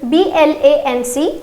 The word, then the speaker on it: blanc: For masculine it is B-L-A-N-C and the pronunciation is blanc.